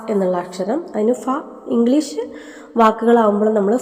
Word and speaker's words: ഫ: ഖ ഛ ഠ ഥ ഫ ഉച്ചരിച്ചാലേ മനസ്സിലാകും ഇവിടെ ഇത് ഫ അല്ല ഫ എന്നാണെന്ന് കൃത്യമായിട്ട് മനസ്സിലാക്കാം പലരും ഇത് ഫ എന്നാണ് ഉച്ചരിക്കുന്നത് ഇതിനെക്കുറിച്ച് പിന്നീട് കൂടുതൽ പറയുന്നുണ്ട് മലയാളത്തിൽ ഫ എന്ന ഒരു ഉച്ചാരണം ഇല്ല ഫ എന്നാണ് ഉള്ളത് ഇംഗ്ലീഷില ഉള്ള ഇപ്പൊ ഫാൻ